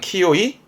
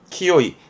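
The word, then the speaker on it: 清い: 형용사, 이 형용사는 키요이, 키요이.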